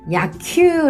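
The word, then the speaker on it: 野球: 야구 는 야큐 라고 도 합니다 . 비슷하게 들리죠 ? 한번 시도 해 보세요 .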